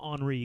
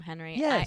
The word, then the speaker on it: Henri: So, like if your kid's Henri, nobody's actually gonna call him Henri. Come on. Everyone's gonna call him Henry. And it is true like Siobhan is spelled if it's Gaelic and spelled properly, it is Sioban.